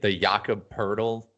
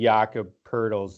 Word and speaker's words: Jakob Poeltl: I know the Jakob Poeltl is always a tough one because it's pronounced with an R. Even though there's no R.